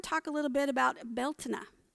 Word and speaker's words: Beltane: a little bit about beltana which is often pronounced belting and many people think that that is how it's pronounced here in the united states but it's called bialtena in ireland and it